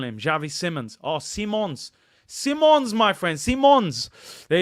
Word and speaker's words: Simons: it correctly Simmons uh see as in the seeing with your eyes and mons like mon Simons Simons Javi Simons what my what was I call him Javi Simmons oh Simons Simons my friends Simons